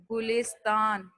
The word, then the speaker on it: گلستان: گلستان، golf کے اوپر پیش، لام کے نیچے زیر، گلس، تے کے اوپر زبر، گلستان.